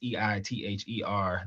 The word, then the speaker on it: EITHER: That's Elephant in the Room podcast, EITHER. The I is silent.